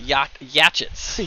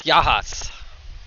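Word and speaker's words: Yachats: My parents used to call it Yatchets. Yatchets. Yatchets. I believe that's how they used to pronounce it. I've also heard Yakots. Yakots? It's Yahats.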